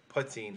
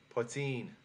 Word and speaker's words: poitín: And then if you go to Munster, they would emphasize the latter syllable like they do with many of their words, and to them it's poitín, where they would emphasize the latter part of it.